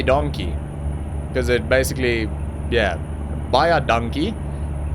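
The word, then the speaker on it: baie dankie: because it basically yeah buy our donkey is how we say it in Afrikaans buy a donkey but yeah I mean buy a donkey is so damn close that any South African would understand what you saying they would sort of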